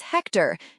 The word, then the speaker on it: Hector: Question one answer is Hector. Note the H is silent.